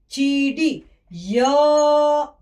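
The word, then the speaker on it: चिड़िया: उसके बाद we will learn the next word is cha. From here I will join and I'll do I ki matra. Cha, I, chi. Cha, I, chi. Cha, I, chi. This is da, I, di. Chi, di. Ya, ya. Chidiya means what, children?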